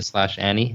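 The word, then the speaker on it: Ani: Does that work for you, the /Annie? Absolutely. And it's spelled A-N-I.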